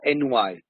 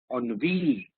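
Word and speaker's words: ennui: it's a noun boredom it is not NY the pronunciation is on a v on V if there is feeling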